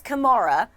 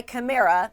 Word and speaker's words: Kamara: for the people well he says his mom says Kamara but he goes by khmera is what he will tell his friends so he says you